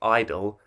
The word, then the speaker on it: (G)I-DLE: the year k-pop group idol or g-idle possibly i think most people seem to agree it's just pronounced idol are back with a